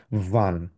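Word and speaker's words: wann: এটা যেহেতু ডবলিউ ডব্লিউ কে আমরা সাধারণত উচ্চারণ করি। সেন্ সেক্ষেত্রে আমরা বলব হচ্ছে ভান।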